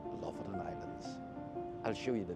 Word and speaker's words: Lofoten: I looked up the pronunciation and I'm told that's how it's pronounced, LOFOTEN Islands.